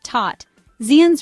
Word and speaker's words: tot ziens: In Dutch, tot ziens means, well, goodbye. Tot sounds like the English word tot. Ziens rhymes with beans. Say it together, tot ziens.